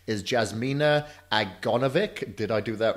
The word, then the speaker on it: Jasmina Aganovic: let me see if I can get the pronunciation right is Jasmina agra Novick did I do that right you got it